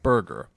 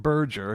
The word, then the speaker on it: Burge: Yeah, John Burger. What the a John Ber? But he was um Yeah, he actually he didn't pronounced it Burgger, he pronounced it burger, right?